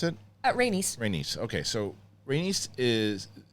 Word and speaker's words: Rhaenys: How do you pronounce it? Rhaenys.